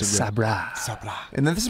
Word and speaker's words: Sabra: Is it Sabra? Sobra? Sabra. They make a great roasted. It's pronounced Sabra.